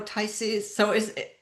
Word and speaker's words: Taisis: And if you could just help me, Sabrina, I think you know Taisi. So can you help us pronounce her name? Isis. Taisis. Okay, Taisis. So the accent is on the I.